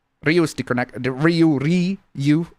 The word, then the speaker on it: Ryu: is the the Ryu Riu as in you that's the correct pronunciation but yeah also the